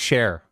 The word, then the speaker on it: shire: okay fair enough uh shires pronounced Cher Stratford share ah there we go thank